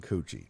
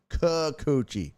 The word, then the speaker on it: Kikuchi: Astros getting Coochie. No Kikuchi. Kikuchi, not Coochie. You're saying it wrong.